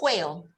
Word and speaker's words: whale: So not whale. The H doesn't pronounce. So whale.